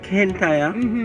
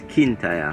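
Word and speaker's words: Kintyre: all right so kintaya some people call it no process call it kenta oh open versus scarlet versus call it kentaya but the right name is kintaya yeah king tire yeah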